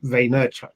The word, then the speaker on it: Vaynerchuk: And Vaynerchuk, I think is how it's pronounced.